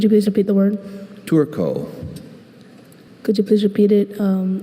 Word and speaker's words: turco: Your word is turco. Turco. May I please have the alternate pronunciations? There's just turco.